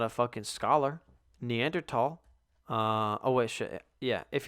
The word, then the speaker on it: Neanderthal: Neanderthal. Oh, wait, shit. Yeah, if you're not a fucking scholar, it's pronounced Neanderthal, not Neanderthal.